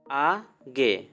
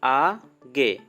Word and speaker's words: আগে: after পরে before আগে it's not আগে the correct pronunciation is আগে not now এখন না not now এখন না we will try to upload more videos.